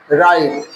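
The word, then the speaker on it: write: कभी-कभी जैसे डब राइट लिखा गया है डब्ल्यू आर आई टी ई राइट और यहां आर आई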